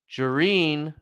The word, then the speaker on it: Jareen: So, Jareen rhymes with tangerine.